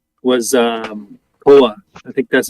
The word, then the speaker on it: Koa: My next But it guess is a- was Koa. I think that's how you say it. KOA.